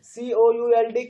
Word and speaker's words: could: हूँ, इसको could would, तो could और would दोनों में L जो है वो साइलेंट लेटर है.